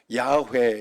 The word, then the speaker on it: 야훼: 야훼 이게 원래 발음인데 밑에 이 발음만 사용해서 아도나이 그렇게 하나님을 부르고 하나님을 그만큼 위대하고 크신 분이기 때문에 그렇게 했어요.